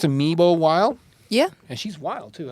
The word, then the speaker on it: Memel Wilde: That's how you pronounce it, Memel Wilde?